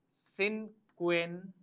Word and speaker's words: cincuenta: how to write and what is the correct pronunciation of numbers from 51 to 100 in Spanish. So 50 is cincuenta.